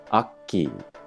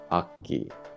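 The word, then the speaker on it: Akki: the K sound kind of bleeds over into the A sound, so it's like Aki, Aki. I don't know if you can hear it kind of like caught in the back of my mouth.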